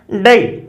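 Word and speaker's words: day: अब आप डे ऐसे नहीं बोलते, डे से, डे से, ए ई, ए ई, तो 2 साउंड आ गई, डी से डे, ए ई, डे।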